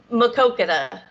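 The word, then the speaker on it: Maquoketa: Is it Makokita? Makwakita? Makokita. Oh man, Makokita. Way off.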